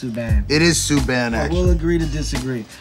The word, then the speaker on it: Subban: PK, I still don't think your name is pronounced Subban. It is Subban, actually.